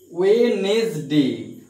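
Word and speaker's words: Wednesday: Sunday, সান, Sunday, Sunday, Monday, Monday, টিউজডে, টিউজডে, ওয়েনেসডে, ওয়েনেসডে, ডি উচ্চারণ হবে না, D silent, D silent, ওয়েনেসডে, Thursday, Friday, Saturday,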